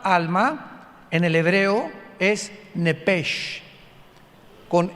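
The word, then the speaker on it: נפש: en el hebreo es nepes con s h al final Como suena nepes pero la sh en hebreo se pronuncia como J entonces se pronuncia nepe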